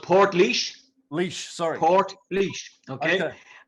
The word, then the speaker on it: Portlaoise: And now you're at a prison called, is it Port Liège? How do you pronounce that? So it's called Port Liège.